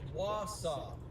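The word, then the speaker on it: Wausau: Okay, someone's telling me how it's Mason's reacts telling me how to pronounce it's Wasaw, guys. It's instead of wa sua sua.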